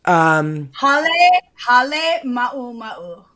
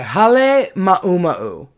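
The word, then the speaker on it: Halemaʻumaʻu: Hale Ma'u Ma'u. Okay, Hale Ma'uma'u.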